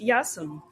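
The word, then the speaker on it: Ἰάσων: In Wikipedia, it was said to be founded by Jason of Jason and the Argonauts and in pronounced Yasum.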